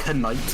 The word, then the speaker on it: Knight: I'm gonna go on a crusade to unsilence the K in Knight. Or no, it'll be known as Knight. Why is the K even there? Why did we put him there if we're not gonna pronounce it?